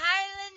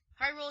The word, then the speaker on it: Hyrule: It is a Highland shield. Hyrule shield, not Highland. Hyrulean, whatever. I never got out of pronunciation key, I will never know.